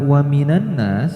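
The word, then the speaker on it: وَمِنَ النَّاسِ: Nah, di lafadz wa minan nas terdapat hukum alif lam samsyah. Maka alif lamnya diabaikan, tidak dibaca, langsung nun ketemu nun dan diberi gunnah. Jadi cara bacanya wa minan nas, seperti itu.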